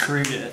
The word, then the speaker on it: Gurguit: No, Richard, it's pronounced Gurguit. Gurguit.